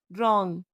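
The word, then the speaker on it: wrong: तो डब्ल्यू आर और डब्ल्यू एच से शुरू होने वाले वर्ड्स में डब्ल्यू साइलेंट रहता है। जैसे राइट रॉन्ग रिंग रैप और हुज़।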